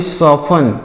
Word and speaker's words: soften: आगे बढ़ते हैं, अगला वर्ड देखिएगा क्या लिखा गया, SOFTEN, तो इसे पढ़ेंगे सॉफन, क्या पढ़ेंगे, सॉफन। यहाँ पर टी साइलेंट है, मतलब हम इस टी को नहीं पढ़ेंगे, इसे सॉफन पढ़ेंगे।